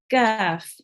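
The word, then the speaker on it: ك: And notice the difference between this Qaf and this Kaf. Okay, this is Kaf, Kaf. It is not pronounced heavy and with our mouth rounded. It's pronounced Kaf.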